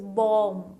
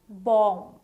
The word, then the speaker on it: bomb: It is bomb. The B which is in the end is actually kind of silent. It's not called as bomb. It's called as bomb. Bomb, right?